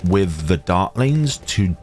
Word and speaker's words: Dartling: And sometimes I may mispronounce Dartling as Darlene. Forget the T, you are my darlings.